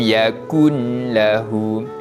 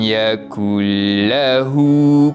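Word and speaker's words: يَكُن لَّهُ: Contoh, walam yakun lahu. Nun mati tu dia jelaskan, maka tak betul lah cara bacaannya. Yang betulnya, sekali lagi saya ulang. Walam yakul lahu kufuwan ahad.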